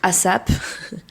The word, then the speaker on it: ASAP: En français, les gens vont dire ASAP. Ça se dit ASAP.